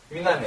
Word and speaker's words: une année: "Une année" 는 끝 에 'e' 를 발음 하지 않습니다 .